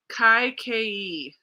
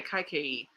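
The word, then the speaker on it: Kaikeyi: that kind of stuff kai ke is how you pronounce it okay kai ke it's a fantasy retelling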